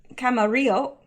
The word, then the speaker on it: Camarillo: The Secretary of Public Security, Cristobal Castaneda Camarillo. I know the 2 L's are pronounced like a Y.